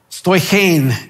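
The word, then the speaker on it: στοιχεῖν: bring this point across stoichane is the way it's pronounced and it is a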